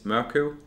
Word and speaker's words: Morkøv: So my name is Morkøv. But actually, like when you say in Danish Michael Morkøv, when you in English say Michael, I think it's suitable more to say Morkøv.